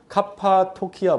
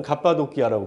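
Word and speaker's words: Cappadocia: 근데 지금 카파토키아 뭐 이렇게 부르나요? 네, 지금 현재 발음으로 치면 갑바도키아라고 부르고, 그 위에 올라가면 본도가 있고요.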